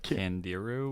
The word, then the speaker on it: Candiru: Candiru.